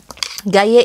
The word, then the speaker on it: Gayet: Gaye itu bukan gayet ya. Memang ada T-nya, tapi T-nya nggak dibaca karena ini ejaan bahasa Perancis.